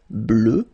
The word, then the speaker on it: bleue: Phonetically it doesn't exist because you don't pronounce it, so you get bleu as you would get for the masculine form, okay?